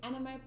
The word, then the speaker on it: Animae: Hello, and welcome to the Animae podcast. Animae spelled like M-A-E, and it's also known as the Animaecast.